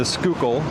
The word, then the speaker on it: Schuylkill: Uh this is one of them obviously, but this is this is where we are now is the Skookul River.